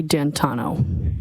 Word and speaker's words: D'Antuono: And when you went outside, you learned that he had come and his friend, is it Ricky D'Antuono? How do you pronounce the name? It's Ricky D'Antano.